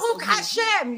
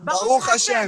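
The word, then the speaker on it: ברוך השם: Baruch Hashem. You're saying it wrong. Baruch Hashem.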